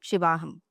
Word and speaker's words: Shivaham: And then finally, you say Shivoham, Shivaham. I am Shiva. Shiva Aham is Shivoham. And then Shiva Aham is Shivaham. So when it is a long sound at the end, it refers to Shakti.